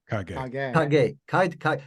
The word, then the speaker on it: Kage: It's Kage Effects is how you pronounce the company name? Kage. Every scene I saw that, I'm like excited. Who's this? People say Cage.